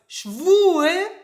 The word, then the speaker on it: schwul: So for example, the difference between ü and u. It's important because schwul means homosexual, schwul. And schwül means humid.